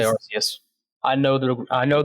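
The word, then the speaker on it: Arceus: who pronounce it this arus I do say arus I know the I know the root word I know Pokemon official says archus I don't care I think it sounds silly I like to say arus and you have any uh hot takes on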